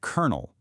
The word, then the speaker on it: colonel: You look at it, you see an L, an O, another L, but you say kernel.